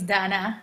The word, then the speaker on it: Dana: My name is Dana, has a long A in Arabic.